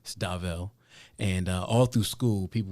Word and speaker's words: Dauv: And then from there, I was Dauv like Suave.